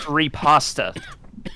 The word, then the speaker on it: riposte: And by the way, Daniel, it's pronounced riposta.